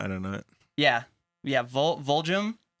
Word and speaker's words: Voljum: Yeah, Voljum. I think it's actually pronounced volume, but it's spelled Voljum, Voljum. Yeah, I think he's Sounds like volume, Swedish, yeah.